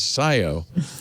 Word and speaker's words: Scio: The government says you need to add 417 addresses in Freedom, Lima, Lodi, and how do you pronounce that? Skio? Scio. Of course, Scio. Hey, listen, there's a Milan, Michigan that is spelled Milan.